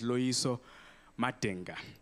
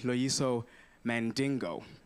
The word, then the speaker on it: Loyiso Madinga: this cracking yes yes my name is luiso matenga which they mispronounced when i perform in new york a simple african name no sounds known has never heard in that word before luis omating but they call me loiso mandingo oh wait why why